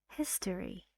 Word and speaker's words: history: and it goes foreign history this sounds a little bit like e but shorter history how many syllables three where's the stress on the first syllable history oh look a